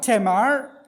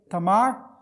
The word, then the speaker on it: Tamar: Tamar. पहला है तमार। Tamar is how the Arabic or the Hebrew people will pronounce it, Tamar. और जो इब्रानी लोग हैं उसको तमार बोलेंगे, English people made it Tamar.